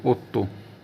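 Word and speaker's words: otto: को बो जाता तोतो ओ डबल टी ओ ओतो ओतो मतलब आ उसके बाद है दोस्तों न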